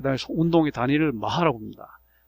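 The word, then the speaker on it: Mach: 그 다음에 운동의 단위를 마하라고 합니다. 독일계 그 이름 마하라고 읽어서 마하라고 읽는 거죠.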